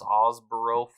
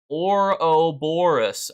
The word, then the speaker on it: Ouroboros: Oh, here's everybody coming in telling me how to pronounce Osboro, blah, blah, blah, you know. Ouroboros.